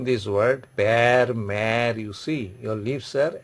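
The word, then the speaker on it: mère: That is pronunciation is pear. Pear means father. Pear means father. Then next word is mare.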